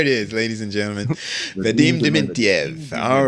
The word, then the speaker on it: Vadim Dementyev: I hope I pronounce it right. You made me nervous now. It's Vadim Dementyev. There it is, ladies and gentlemen. Vadim Dementyev.